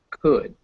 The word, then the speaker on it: could: right this is good spelled with an l but it's not pronounced could greg would you like